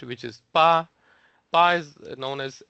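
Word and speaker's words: 八: It mimics the shape of the Chinese character for 8, which is Pa.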